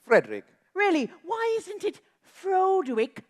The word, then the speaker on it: Frederick: Oh, then your first name, do you pronounce it Froderick? No, it's Frederick.